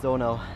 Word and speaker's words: Donau: I hope that's how you pronounce it in English, but in German it's Donau, and it's the big river that flows through Europe.